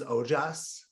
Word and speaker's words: Ojas: We also dove into what is Ojas. I think am I pronouncing that right? You got it. Ojas.